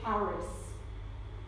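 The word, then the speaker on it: χάρις: of God the greek word for it is Karis spelled CH a arm is and Karis is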